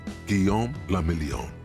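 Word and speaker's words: Guillaume Le Million: meant only one thing guillaume lamillion hell yeah if it doesn't rhyme you're not pronouncing it right out of the dazzling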